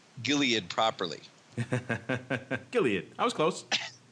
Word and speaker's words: Gilead: to pronounce Gilead properly Gilead that was close it's it's yes gilad anyway so um hard G hard G so I uh that